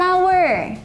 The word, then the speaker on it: hour: Kemudian berikutnya ada an hour.